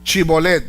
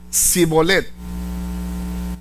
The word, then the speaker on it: Shibolet: Y él decía Sibolet. Si él decía Sibolet porque no podía pronunciarlo correctamente, entonces le echaban la mano y le degollaban junto a los vados del Jordán.